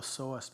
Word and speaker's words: psoas: the lower back area it's called the sawest muscle it's spelled psoas if you want to